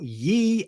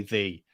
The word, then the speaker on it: ye: was Ello Belly or Ye Ello Belly. Oh, meaning out of the boggy hole. I think that's absolute nonsense, because you don't say ye, you say thee. Nobody pronounces it ye, that is true.